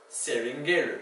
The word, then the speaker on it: seringueiro: But then, because Portuguese is sometimes spelled strangely like this, you occasionally have an EI for the A sound. Capoeira. Seringueiro.